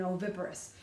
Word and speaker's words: oviparous: practice singing it oh I clapped 4 times it has four sets of sounds it has four syllables it starts with the letter O the O says its name in oviparous do you remember the